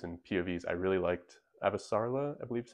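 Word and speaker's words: Avasarala: And as for characters and POVs, I really liked Avasarla, I believe is how you pronounce it.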